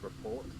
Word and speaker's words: rapport: I don't have a good rapport with animals. It's pronounced report.